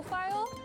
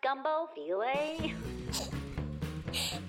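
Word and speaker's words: filé: It's pronounced gumbo filet. It's not file? Ugh. Brown sugar, gumbo file. Oh, this says gumbo on it. I don't know how to say the latter word of that. Filet, not file, filet.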